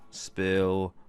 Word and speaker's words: Spill: edition of the Chill Spill Podcast. The S is silent, by the way.